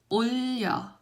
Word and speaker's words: 올려: So here your tongue has to actually end 올, right? It has to end with liam sound and then start with liam sound.